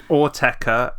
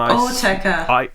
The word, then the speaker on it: Autechre: Autechre, and Autechre.